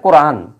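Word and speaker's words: القرآن: হলো যদিও আমরা এই নুন জবর না এর উচ্চারণটা আমরা করি না যেহেতু এই জায়গায় আমরা থেমে যাচ্ছি যেহেতু আয়াত শেষ ওয়াকফ করার কারণে আমরা কি পড়ি আল্লামাল কোরআন এই কোরআন পর্যন্ত থাকে কিন্তু কোরআনা শব্দটা ছিল কোরআনা আল্লামাল কোরআনা তাহলে আল্লামা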